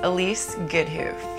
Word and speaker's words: Elise Goodhoofd: yep that makes sense my name is Elise goodh is how you pronounce that in Dutch I am a graphic designer